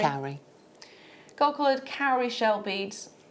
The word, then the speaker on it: cowrie: How do you pronounce that? Cowrie. Cowrie.